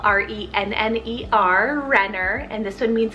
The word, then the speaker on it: Renner: chast fire i have the name renner spell r-e-n-n-e-r renner and this one means a messenger or